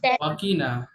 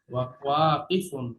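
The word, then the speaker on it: واقف: ওয়াকিনা, ওয়াকিনা, কিতে টান নাই কিন্তু। ওয়াকিফুন, ওয়াতে টান আছে, কফে টান নাই। ওয়াকি বললে ভুল হবে।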